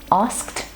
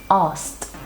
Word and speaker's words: asked: this word we have asked asked it's a consonant cluster with or it could also be pronounced as ast asked this is very